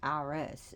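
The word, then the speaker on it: Ares: no one could die Aries pronounced IRS in Greek didn't think war was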